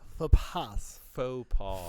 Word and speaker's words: faux pas: faux pas. Faux pas. Faux pas. Faux pas. Faux pas. There we go. That works. And the S is silent.